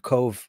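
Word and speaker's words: Cobh: Concur worked out of Cove for, I like how you spelt it. You didn't spell it the Irish way. Cove. It's for the punters, right? Because Cove is spelled, you know, it's very Irishy.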